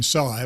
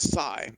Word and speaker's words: Sy: but i prefer to go by psy if you don't mind and yeah it's when